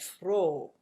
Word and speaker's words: froh: And an H at the end of a syllable, well, this is kind of it's silent, so that's one of the things, and it's also making these vowels long. So, nehmen and froh, nehmen, froh. So it's silent, but it's making the vowel long.